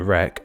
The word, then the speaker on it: wreck: silent U in guard, a silent W in wreck, a silent X in foe, and a silent Z in rendezvous.